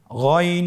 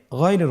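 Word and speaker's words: غين: ছাড়া বলুন আবার বলুন গন হরফটি মোটা অক্ষর উচ্চারণ করার সময় অবশ্যই মোটা করে বলতে হবে আইন এবং গন হরফটি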